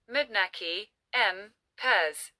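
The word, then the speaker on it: Manneken Pis: Nowadays, the name Mannequin Pis, Dutch, pronounced Mudnaki, M. Pez, usually translated as little pissing man or little peeing man in English, is official in both French and Dutch.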